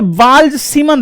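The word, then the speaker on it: Balz–Schiemann: Z silent है बट मैं पढूंगा नहीं तो समझ में कैसे आएगा? नहीं तो बाल-बाल पढ़ेंगे हम लोग ना। बाल्ज सीमन रिएक्शन के नाम से जाना जाता है।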